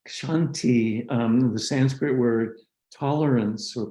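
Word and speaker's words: kshanti: that's really important so another aspect of it's pronounced shanti the sanskrit word tolerance or patience is the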